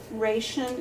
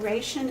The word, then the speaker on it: ration: We say always AOU before shun, but ration is in the workbook, and that was confusing to the student, understandably, because we've been taught ration and rationale. But ration is the way it's pronounced in the book, and it has been pronounced that way.